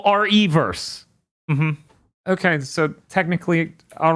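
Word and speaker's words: Re:Verse: it is Resident Evil re colon verse verse yeah so it's Resident Evil reverse okay so technically all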